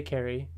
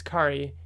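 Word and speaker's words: Khary: This is Kari Randolph. I always want to say Carrie, but I learned it's Kari because his Twitter name is Kari like Atari.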